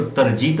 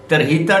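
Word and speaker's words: tarjeta: मलिक बताया जाता है इसको वैसे पढ़ा जाए तो तर्जित लेकिन स्पेनिश लैंग्वेज में के जो है वो है की साइलेंट हो जाता है उससे हा की आवाज निकाल जाति है लिहाजा तरहिता डी रेजिडेंसी है जिसकी बुनियाद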